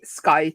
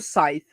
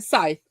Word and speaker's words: Scythe: in the ark of How do you say Skite? Is it Skype or Scythe? Scythe. Okay. Because I keep saying Skite and I know it's wrong but I can't stop. Fair. But Scythe. Uh it's like an arc